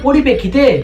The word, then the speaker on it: পরিপ্রেক্ষিতে: যে পরিস্থিতি হয়েছিল তার পরিপ্রেক্ষিতে পরিপ্রেক্ষিতে না সেটা কোন কথা নয় কথা হচ্ছে পরিপ্রেক্ষিতে পরিপ্রেক্ষিতে এটা সঠিক উচ্চারণ আমরা ভুল জেনেছি সঠিক উচ্চারণ পরিপ্রেক্ষিতে কই বাত নেই